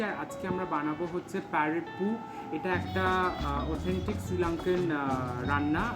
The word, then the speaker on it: parippu: সো এটাকে ওরা pronounce করে হচ্ছে এটা প্যারেপু, সো ওরমভাবেই আমি প্রোনাউন্স করলাম।